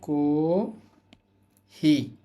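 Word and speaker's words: コーヒー: রাখতে পারবেন তারপরে আছে কহি কহি কহি টেনে বলতে হবে এই যে হাইফেন গুলো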